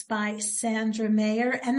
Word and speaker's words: Szandra: And it's by Szandra Mayer, and that's spelled Szandra. And thank goodness for us here in the United States that Z is silent.